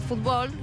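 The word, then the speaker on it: футбол: palabras básicas por ejemplo fútbol se dice fútbol que es lo mismo pero la l se pronuncia más europea la eleva para atrás y pega al paladar la lengua con gol por ejemplo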